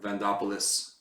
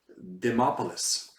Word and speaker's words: Demopoulos: Vandopoulos or something, whatever her name is. What's her name again? How do you say that Greek name? It's definitely Greek. Demopoulos.